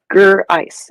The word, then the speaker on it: Grice: Grice, as in ice cube, it looks like. Grice. Grice is correct.